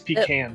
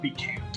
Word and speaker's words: pecan: to pronounce the, well, two generally accepted ways to pronounce the word pecan, that we always say pecan unless it is involving dessert, and then for some reason it becomes pecan.